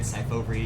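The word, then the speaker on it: Syfovre: But you nailed it, Cyfovre is is is how it's pronounced and it's like you said, a prescription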